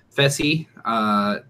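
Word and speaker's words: Fessy: manager we've got feci that is how it's pronounced feci born Orlando lives in Orlando he's a substitute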